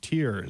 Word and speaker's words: tier: time of the week tier is pronounced tear sad face Eric but